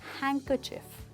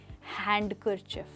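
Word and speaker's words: handkerchief: Well दोस्तों यहाँ पर भी डी जो है वह साइलेंट है और ये बन जाता है हैंकरचिफ। हैंकरचिफ, ना कि हैंडकरचिफ। Try again, हैंकरचिफ।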